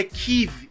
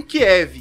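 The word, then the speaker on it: Kyiv: mencionar aqui é que a pronúncia para falantes de português é tive e não Kiev que a forma como os russos falam então em respeito ao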